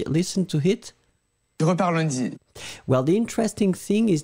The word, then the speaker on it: lundi: Well, the interesting thing is that in that case, as you can see, the nasal is not as clear. So basically, it's pronouncing a little bit of N, I would think.